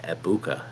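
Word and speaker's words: Egbuka: Is it ebuka? Eggbuka or Ibuka? I've heard that it's actually Ibuka. G is silent.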